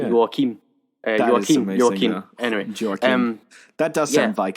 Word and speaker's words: Joachim: Just to get to that, it's directed by Joachim.